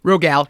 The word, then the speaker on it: Rogal: My guest is comedian Rogal. Am I saying it right? Rogal, yeah. Rogal, who plays Moses and is one of the show's creators.